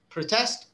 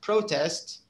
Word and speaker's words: protest: and as a verb protest protest is one of them produce produce is another one so the with with verbs you tend to have uh the second syllable is the one that's stressed and because all of